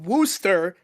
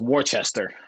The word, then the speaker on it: Worcester: actually pretty fun too so the thing about Wooster Massachusetts that's how you pronounce it Phil I thought it was Worcestershire like the sauce no I thought it was Worchester I called it warchester first too and then everyone in Massachusetts tried